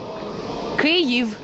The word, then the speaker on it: Kyiv: I pronounce Kiev. Kyiv in Ukrainian.